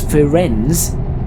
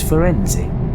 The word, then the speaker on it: Firenze: So I thought it was Firenze. I thought that doesn't sound right. So I had to look it up. It's Firenze.